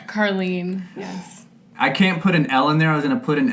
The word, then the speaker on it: Karleen: curly and I didn't even ask am i pronouncing your name grab your Harley that's so close really Carlene Carlene yes I can't put an L in there